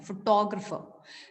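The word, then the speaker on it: photographer: नहीं ग्राफर नहीं, फोटोग्राफर। जब आप TO को फोटो टॉ करके फोटोग्राफर। पढ़ेंगे ना, जब आप TO को टॉ करके पढ़ेंगे तो प्रोनाउंसिएशन ऑटोमेटिकली ठीक आएगी।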